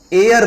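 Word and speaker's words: heir: ही इज एयर to throne, तो एच यहां silent होता है, एयर पढ़ते हैं इसे इसलिए एन लगाते हैं।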